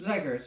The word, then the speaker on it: Zach Ertz: It is Zach Ertz, right? Yep, Zach Ertz, there we go.